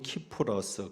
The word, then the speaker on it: 키프로스: 지중해에 있는 키프로스는 섬 키프로스 혹은 키프러스 키프로스 이렇게 다양하게 발음이 되는 영어로 되어 있는 그